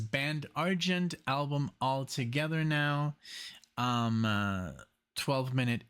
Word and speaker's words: Argent: I was going to say Argent, but it's Argent.